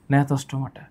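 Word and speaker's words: Gnathostomata: এই উচ্চারণ তো আসলে বাংলা করলে হবে না। নথস্টমাটা এই নথস্টমাটার সাতটা ক্লাস আছে।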